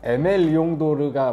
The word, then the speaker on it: Aimé Leon Dore: 저는 항상 궁금했던게 있어요네 어떻게 발음하는 것이 맞냐 제가 아는 바로는 에메 이용도가 맞는 걸로 알고 있습니다 저도 막 찾아봤거든요 근데 메라고 나오더 이게 사랑을 뜻하는 단어라고 합니다 디렉터 얘기를 먼저 해볼까요